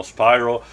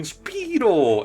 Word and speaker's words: Spyro: memo that you know Spyro uh you know um name is actually pronounced that way with the Y. So instead everyone you know in that original trilogy keeps calling him Speedo and not even just